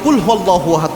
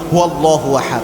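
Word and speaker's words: قُلْ هُوَ اللّٰهُ أَحَدٌ: পড়ি, যে ভুলটা করি, আমরা অনেকে কুলহু আল্লাহু আহাদ পড়ি। মানে হচ্ছে যে আল্লাহ এক তাকে ধরে খেয়ে ফেল। এরকম একটা অর্থ হয়। এজন্য কফটা ভালোভাবে উচ্চারণ করবেন। কুয়াল্লাহু আহাদ। এভাবে উচ্চারণ করবেন। কফ এটা কিন্তু এটা কিন্তু কাফ না।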